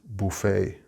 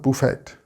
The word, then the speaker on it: buffet: The first one is buffet. We do not pronounce the T. It's not buffet.